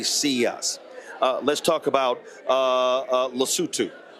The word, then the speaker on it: Lesotho: So in his speech, he literally mispronounced the country. Then folks started to actually laugh in the room. It's called Lesotho.